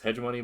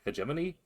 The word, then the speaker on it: hegemony: That's how I voice that is hedgeimony, but I believe it's hegemony.